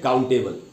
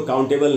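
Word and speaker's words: countable: इसको पढ़ लेते हैं काउंटेबल तो दोस्तों काउंटेबल नहीं पढ़ना है शुद्ध उच्चारण होगा काउंटेबल यानी ए बी एल को अल पढ़ना है एबल नहीं तो पढ़ेंगे काउंटेबल अच्छा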